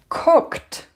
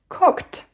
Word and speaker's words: cooked: put it here and this will be cooked cooked because is unvoiced so you need to pronounce which is also unvoiced all right so how